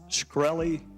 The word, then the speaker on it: Shkreli: Is it pronounced Shkreli?